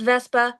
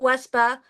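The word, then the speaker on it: VV3SBA: My in my handles online are VV3 SBA, pronounced Vespa, not Wespa.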